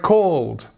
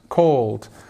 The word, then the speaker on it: called: This one is, I guess it's kind of the same as cold. The word cold, for example. You just have a different sound here. And again, although we do have an ed spelling here, so it means it's like a past form of the verb, it actually can be spoken like the word cold, but with called, with all sound as well.